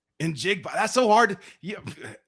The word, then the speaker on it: Njigba: Sheldon, it's Njigba. Njigba.